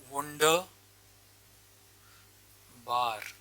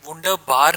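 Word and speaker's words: wunderbar: For example एक word है वंडर बार, wonderful बोलते हैं, वंडरफुल होता है इसका मतलब। तो इसे वंडर बार नहीं बोलेंगे, इसे वंडर बा बोलेंगे।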